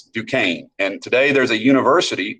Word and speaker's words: Duquesne: That's how you pronounce that. It's not Duquesne, it's Duquesne.